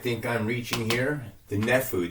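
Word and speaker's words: Naphtuhim: The Nephu. The T is silent here, folks. It's not Nephtu. Okay? It's Nephu Heights.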